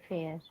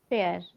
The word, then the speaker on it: fear: So here I the way uh uh fear has like you pronounced it sounds me like a fair. Okay. But it has to be fear. So here you have to say a long sound like this.